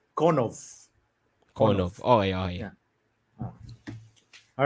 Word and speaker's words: Konov: If we butchered your name, apologies. From the interview with Nav, it seems like it's Konov.